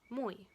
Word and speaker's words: moi: of an au, and the oi is pronounced as it's written, moi.